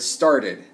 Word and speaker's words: started: Start ends in a T, so if it ends in T or D, we add id. Started, started. So we actually get an extra syllable because we're adding id.